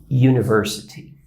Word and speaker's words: University: eu tenho o termo University University não é é u University como na língua portuguesa Universidade né Eu tenho esse som de u aqui como sendo you né you então o